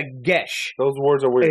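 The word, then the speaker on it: geis: You think it's pronounced one way, like Geia, something like that. Yeah, it's actually they're weird. It's a gesh.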